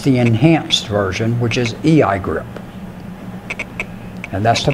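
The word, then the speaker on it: EIGRP: it which is the enhanced version which is a I grip and that's the pronunciation of both of those ok and both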